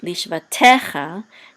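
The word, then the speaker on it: לשבטך: Notice this is etnachta right here is the accent mark, and so it's lish va te cha, not lish va te cha. It's lish va te cha because this is the accent mark on this syllable.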